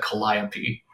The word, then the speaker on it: Calliope: E is spelled Calliope, but it's Greek. You're going to pronounce that Calliope.